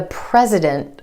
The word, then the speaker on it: president: The president of the United States. Again, that T is held after the N in the NT cluster.